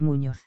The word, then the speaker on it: Muñoz: hotel que usted elija es muñoz en castellano la ñ se pronuncia de forma diferente a la n a secas a replicó el comisario